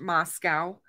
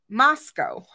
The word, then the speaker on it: Moscow: So Moscow is not pronounced Moscow, by the way, guys. It's Moscow. It rhymes with Costco. It is not pronounced like the Russian capital.